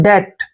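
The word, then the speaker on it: debt: ई बी टी देखिए इसको हम डेप्ट नहीं पढ़ेंगे जब भी टी से पहले बी आता है तो बी वहां पर साइलेंट होता है यानी कि हम बी का उच्चारण वहां नहीं करते हैं डी का उच्चारण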